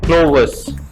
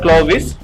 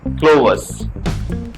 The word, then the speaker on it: Clovis: who is Bertie's friend which is pronounced as Klo-wuhs not Clovis but Klo-wuhs except this another main